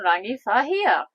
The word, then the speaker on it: Rangiwahia: Go on, pronounce it. You know how to say the town. Well, we ended up in Rangiwahia.